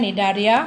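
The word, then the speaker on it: Cnidaria: Next phylum है निडारिया। Okay, C is silent, निडारिया phylum.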